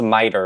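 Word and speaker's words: MITRE: video to learn how to pronounce it it's pronounced miter and they sharing 2024's top 25 most dangerous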